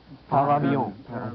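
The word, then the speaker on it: par avion: Parabon. Parabon is right and well pronounced.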